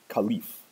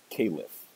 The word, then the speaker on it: Khalifa: word for this position Khalif or Calif or Khalifa these are all ways you can pronounce this word this is a